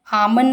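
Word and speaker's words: almond: आमन बोलते हैं तो एल साइलेंट रहता है।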